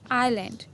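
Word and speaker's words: island: देखते हैं शाम एसयू-30 आईलैंड आईएस एंड A school add नहीं बोलेंगे इसका नाम साइलेंट करने हम क्या बोलेंगे आईलैंड आईएस ए एन डी एस लिखने में आएगा लेकिन बोलने नहीं आईलैंड वास ए एन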